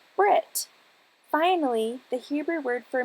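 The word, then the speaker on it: ברית: word for Covenant breath the Hebrews however never pronounce their H's incidentally this ancient Hebrew trait is also a modern British trait the Hebrew word for Covenant therefore would be pronounced in its anglicized form as Brit finally the Hebrew word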